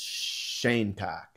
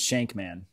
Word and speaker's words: Shankman: but his name is shanock I mean that's like if my name was Mark Bangkok I mean his name is shankman okay so you pronounced it wrong his shank man shank man that's a